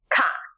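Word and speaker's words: က: That should be pronounced Ka, exactly like a K sound in English, like in cap.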